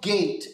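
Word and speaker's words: gait: and there's something called gate and uh this word is spelled for g a i t Okay so not like a garden gate opening in fence but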